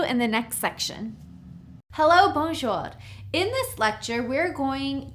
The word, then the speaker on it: bonjour: It's 2 syllables, bonjour. So you'd say bonjour.